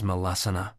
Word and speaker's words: Malasana: Malasana, pronounced ma-las-a-na, is a standing forward bend that brings a deep stretch to the hips and groin.